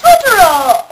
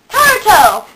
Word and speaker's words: Taruto: It's called Magical Meow Meow Totoro! Wait. Taruto!